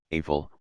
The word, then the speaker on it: Rafale: The Dassault Rafale, French pronunciation, Rafale, literally meaning gust of wind, 11 and burst